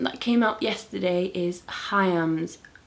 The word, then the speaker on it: Haim: came out yesterday is hayam's album or haim or heim however you want to say it i'm pretty sure they pronounce it hayam hayam that's how i'm pronouncing it their album came